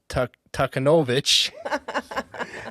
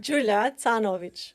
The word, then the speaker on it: Canovic: Today, I have the pleasure of sitting with Julia Takenovich. How do you pronounce your last name again? Julanovich.